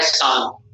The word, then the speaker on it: Tsan: इसके बाद इंपॉर्टेंट नाम आता है सान. टी साइलेंट है नाम में, TSAN है, लेकिन प्रोनाउंस करेंगे सान.